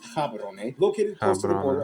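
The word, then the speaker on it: Gaborone: Batswana's capital and largest city is Gabboron. If you speak, it's pronounced Cabaron.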